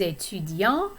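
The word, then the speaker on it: étudiant: would say je suis etudian if you are female you're you're going to say jesus and the t is pronounced at the end it's silent if you're not using the feminine form notice also that that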